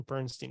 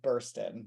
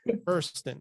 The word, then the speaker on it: Burstyn: uh and I always forget it's not Ellen Bernstein right is that how you pronounce her no it's Ellen Buren like she bur the door buron okay let me I'm gonna bur I keep